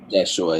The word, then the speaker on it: Yeshua: Jeshua, yeah. Jeshua. So the J didn't exist.